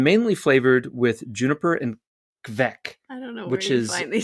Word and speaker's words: kveik: Do you know how to pronounce yeast in Norwegian? Yeah, kvek. Kvek? How is it? Yeah, I think it's kvek. Oh, how is it spelled? Kveik. Kvek. It's traditional yeast. Yeah, it would be kvek.